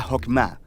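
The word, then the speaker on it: חכמה: En hebreo se pronuncia Jokmah y usualmente se traduce al español como sabiduría.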